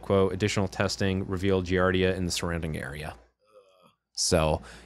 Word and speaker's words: giardia: and slide show i'm sorry how do you pronounce it giardia giardia thank you um uh also known as beaver